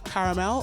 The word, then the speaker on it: caramel: You pronounce twat like twat, and why you pronounce caramel like caramel. But for caramel, people say it either way. Caramel, caramel. It depends on what part of the U.S. you're in.